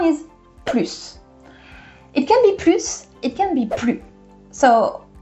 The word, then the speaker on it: plus: So plus, it is when it is positive, you're adding something. Or it is more of something. For example, plus de pain. I'm adding more bread, so guess what? I'm adding that S. You do not say the S if plus is in a negative sentence.